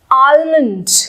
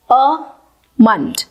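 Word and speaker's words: almond: आलमंड, कुछ इस तरीके से ही लोग इसको प्रोनाउंस करते हैं आलमंड, लेकिन इसकी करेक्ट प्रोनाउंसिएशन में एल का साउंड आता ही नहीं है और ये बन जाता है अमंड, आमंड, आमंड, आमंड।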